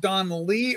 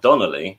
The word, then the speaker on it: Donley: Is it pronounced Donley or Donnelly? It's just Donley. Yeah, it's just Donley. No, you just put an extra syllable in there. It's not Donnelly.